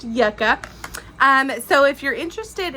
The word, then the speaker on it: Yucca: newest one Yucca I want to call it Yuca but it's pronounced Yucca um so if you're interested in seeing what